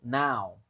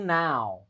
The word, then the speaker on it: now: Oke, I'm sitting near the window now. I'm sitting near the window now. Window. Ini window, tapi ini now, bukan no. Jadi bedakan itu. Ini O dibaca, ini ow. Nah ya kan?